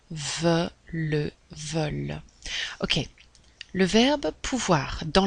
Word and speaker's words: veulent: il est le pluriel veulent et on va prononcer ent comme un e veut le veulent ok le verbe pouvoir